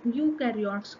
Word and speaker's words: eukaryotes: then the formation of eukaryotes come so u is rhyming with do that means they do